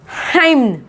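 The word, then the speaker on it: hymn: हाइम, हाइम, एन यहाँ पे क्या है, साइलेंट है।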